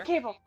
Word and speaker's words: Cabell: I believe we damaging should this raid Copper Cabell. Cable? Let's go to Cable. I always want to say Cabell for some reason. It's the way the last Cabell. name is spelled.